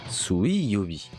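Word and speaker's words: 水曜日: Et pour le mercredi, on le prononce Suiyobi.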